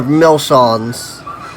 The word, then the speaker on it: Milshons: So last week, you guys all almost died, though you're all Millicents, so, or Milshons, is the proper way of pronouncing it.